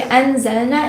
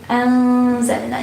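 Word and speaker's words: أنزلنا: So you don't pronounce it clearly. You just say, you don't say anzalna, instead you say anzalna. You conceal the noon a little bit.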